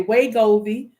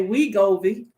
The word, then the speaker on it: Wegovy: hear some people say way Govi some people say we Govi and I think I used to say we got it and I had several people telling me that I was pronouncing it wrong Hey Brianna Simone come